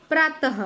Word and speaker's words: प्रातः: हैं कि यह को प्रातः को प्रात व इस समय हमें उच्चारण के टाइम पर ह कि साउंड सुनाई दे रही प्रातः को प्रातः अर्ली